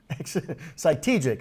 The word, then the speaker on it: Cytegic: If you can pronounce the name correctly, you got the extra point. Cytegic.